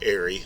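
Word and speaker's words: Eyrie: Aerie, Just A-R-Y or? E-Y-R-I-E. But, Ooh. you know, if you write it like you pronounce it, it would be A-R-Y. Or Aerie, like airy water, the spell.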